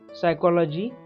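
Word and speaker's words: psychology: Answer night, K, knowledge, K, नॉट, के, सायकोलॉजी, पी, and pneumonia, P, लिम, बी, डम, बी, comb, B, honest, H, hour, H, and school, H.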